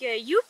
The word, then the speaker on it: Joep: Bon, je m'appelle Youp, la géante ici m'appelle Youpi. Parce que c'est plus facile de le prononcer.